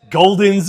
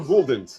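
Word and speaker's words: Gulden's: Golden's is the mustard. Quick, go to your... Wait, it's Golden's or Gouldens? Gouldens. Okay, Gouldens. I don't know. I'm asking. Is it Golden's or Gouldens? Gouldens. Yeah, it's Gouldens.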